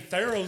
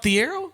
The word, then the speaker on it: Thiero: This year, Is it not Thiero? no, it's Tharo.